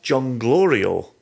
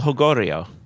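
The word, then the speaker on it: Jolgorio: or by crook but it's an el jonglorio that's not how you pronounce the name but we'll leave that in there um l how would you pronounce it i think it's el hogorio see now yours sounds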